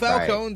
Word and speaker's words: Falcone: Cobblepot, and the criminal guy's name is Falcone. So what? Not Falcon. So what? Falcon. Who cares? I do. Well, Keep- Falcone sounds more mafian than Falcon.